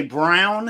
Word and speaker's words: Braun: Braun or or or as they say, Brown. I hate it. It's spelled Braun.